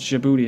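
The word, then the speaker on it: Djibouti: a French Colonial Outpost I think this is jibuti is how you pronounce it a tiny impoverished Nation just north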